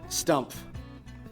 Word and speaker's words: Stumpf: Stump. Exactly how it's spelled.